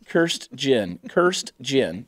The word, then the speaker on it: Kirstjen: Kirstjen. Does anyone know how to say her name? It's spelled Kirstjen. Kirstjen. Kirstjen.